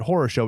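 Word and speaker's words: хорошо: r OS o pronounced source oh yeah they pronounce it horosho it means the same thing so that was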